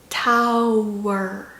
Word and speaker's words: tower: 그래서 tower, tower. 이 W가 모음의 끝소리이기도 하면서 자음으로 또 시작하기도 해요.